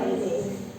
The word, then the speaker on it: oryzae: Sedangkan kalau di tempe ini adalah Rhizopus oryzae tulisannya. Bacanya oryzae.